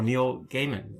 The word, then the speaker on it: Neil Gaiman: He wouldn't talk to anyone, and finally he granted an interview with, we were talking before, Neil Gaiman. Is that the right pronunciation?